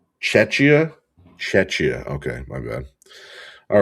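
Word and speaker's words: Czechia: I know how to pronounce it, but because I'm on the spot. Setia. It's Setia. Set it. Cetchia.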